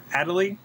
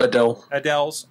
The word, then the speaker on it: Adele: Stuff like Adelie. Is that how you say it? I always screw it up. Adele's. Yes.